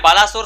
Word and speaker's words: Baleshwar: आपको बता दें, मैं उड़ीसा से बिलोंग करता हूँ और मैं बालासोर से बालेश्वर प्रोनाउंसिएशन करना चाहता हूँ। हालांकि बालासोर भी कहा जाता है, लेकिन हम बचपन से बालेश्वर प्रोनाउंसिएशन करते आ रहे हैं।